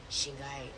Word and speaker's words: Shingai: Shingi, yeah, because it was more of a nickname, Shingi, but it's actually Shingai.